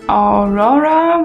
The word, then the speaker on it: Aurora: den Ohren raushängt beispielsweise war das jetzt von Aurora wird ja so ausgesprochen running with the wol habe ich ganz